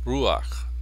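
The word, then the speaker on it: רוּחַ: pone esta esta patac se pronuncia ruaj ruaj también con el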